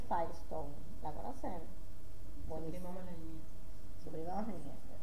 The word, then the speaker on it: Firestone: Firestone es Firestone, como las gomas.